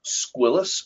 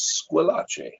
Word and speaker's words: Squillace: Growing up, I went by the last name Squillace, although it is actually an Italian name and properly pronounced as Squillace.